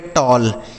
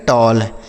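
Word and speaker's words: tall: टी A double L इसे पढ़ेंगे टॉल। टी A double L टॉल।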